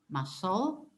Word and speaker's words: muscle: Muscle. تكتب muscle وننطقها muscle.